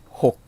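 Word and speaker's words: หก: 발음은 혹 하고 발음했어요.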